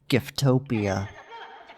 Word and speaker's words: Giftpia: from Rock Bottom this is the beginning of giftpia or more accurate pronunciation ation giftopia while pacle is serving his sentence I'll just